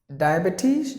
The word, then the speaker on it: diabetes: The next word is diabetes. No. Here it is long sound. Diabetes. Diabetes. You just drag it along. Diabetes. No. Diabetes. So here you have to give the long sound.